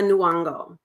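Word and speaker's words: Nyong'o: like Lupita inongo right Lupita nango I believe is how you say her last name Abella Hadid uh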